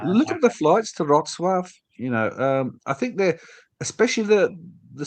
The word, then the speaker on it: Wrocław: How do you pronounce it? How do you? Wrocław, Wrocław, Wrocław, Breslau, Wrocław is where.